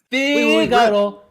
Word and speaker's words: Figaro: It's Figaro. Red. Your name, his name's Red. Alert! Red flag. His name is spelled wrong on the pot.